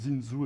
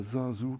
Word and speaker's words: Zinzou: Il paraît que Bénin on prononce Zinzu et pas Zinzu comme nous les Parisans.